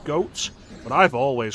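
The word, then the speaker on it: Goht: I've always called it got. I've been told it's pronounced goat, but I've always called it got.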